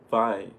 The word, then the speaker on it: Vai: Wait, it's pronounced Vai. V-Y. Steve Vai.